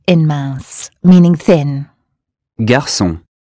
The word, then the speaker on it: garçon: Garçon. The S sound is C cedilla in garçon, meaning boy.